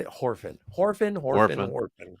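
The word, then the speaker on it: Whorfin: Horfin, he Worfin. punches something into the computer. Shut up, I've been drinking. He Orphan. punches something into the Horfin. Orphan. It's Warfin.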